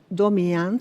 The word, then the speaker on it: Domijan: Mi mamá se llamaba Vilma Domian, se escribe Domijan, y mi padre Iván